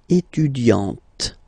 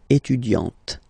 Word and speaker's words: étudiante: Okay, but then for the feminine form, elle est étudiante. Okay, t. Okay, you don't really insist on the e, but you insist quite much on the t. Elle est étudiante.